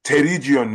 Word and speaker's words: pterygium: This is one of the ways they call the P is silent. Yeah. And the way you spell itself, there's a small typo than the E day after the T. So not pterygion, that's what they call them.